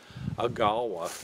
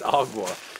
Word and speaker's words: AGAWA: agua up in Canada I mistakenly in my Southern dialect pronounced agawa but I found out it's Aqua but they have a